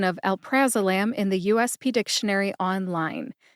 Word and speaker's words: alprazolam: Alprazolam let me do it for you slowly Alprazolam Alprazolam either way is technically correct don't overthink this one just say Alprazolam next let's go over the pronunciation of Xanax